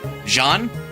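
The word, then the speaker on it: Jian: I believe it's pronounced like the Chinese sword. Do you realize how little that narrows that down? So, Jean. So, Jean like that.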